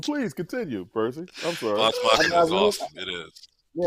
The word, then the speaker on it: Vox Machina: So my first one is from Amazon, and it's Animation, and that's Vamachina. Did I say it right, Ron? Vox Machina.